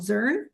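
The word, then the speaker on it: Zearn: It's like learn with a Z.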